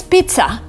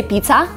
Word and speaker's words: pizza: And here, you can pronounce it like pizza, with a stop, with kind of t, with air coming out of your mouth, pizza. Because some people say pizza, which is not right. You kind of have to stop in the middle of the word and say pizza.